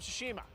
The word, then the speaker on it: Tsushima: In the category of Best Art Direction, the nominees are Final Fantasy VII Remake, Ghost of Tsushima, Hades, Ooh.